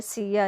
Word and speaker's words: C&A: असल में ये सिया इसको प्रोनाउंस करते हैं।